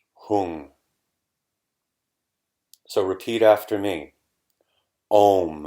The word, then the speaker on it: Hung: to recite the sound whom you could spell it h 0 ng whom so repeat after me